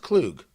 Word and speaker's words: Kug: I think it's pronounced Clug.